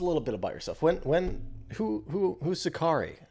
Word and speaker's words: Sacari: So Sacari, is that pronounced correctly here? You're also Sacari, yes.